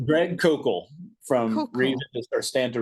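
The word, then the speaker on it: Koukl: You so you talked to doctor, you just mentioned Shan Mcdawa and Greg C and and they were Did I pronounce his name correctly? Greg Kok from reason or stand to reason.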